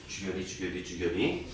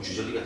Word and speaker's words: 주결이: 주결이. 발음을 잘못하면 주저리가 돼요.